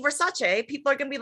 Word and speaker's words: Versace: Versace she just did a thing too. And she was like, they were like, what is your pet peeve? And she goes, everyone says Versace.